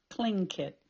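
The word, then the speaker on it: Tlingit: a clink it Indian pronouncing kinket proudly with a clicking of his tongue as if saying clink kit he was built like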